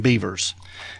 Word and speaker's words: Bevers: his name was Brandon beavers yeah b-e-b-e-r-s yeah yeah we spell beaver a little bit different around here but yeah but uh